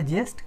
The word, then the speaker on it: ज्येष्ठ: लिखते आपका correct pronunciation जो है ये है, हम कॉमन बोलचाल की भाषा में जेठ कहते हैं। करेक्ट। सो ये ज्येष्ठ, जो कि आपका मई